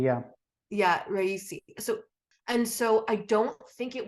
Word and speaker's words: Raisi: Raisi, yeah. Yeah, Raisi.